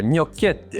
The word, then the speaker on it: gnocchetti: It looks like a bit of a Wes, how do you pronounce that? You want to say it loud for the people? There we go. Gnocchetti.